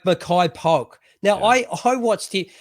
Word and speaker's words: Makai Polk: uh uh pimpleton uh how do you pronounce his name maya k polk my my case yeah my makai poke like makai polk now i i watched